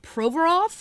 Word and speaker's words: Provorov: get this player's name right uh and not pronounce it improperly it's Ivan provorov I hope that I said that correctly he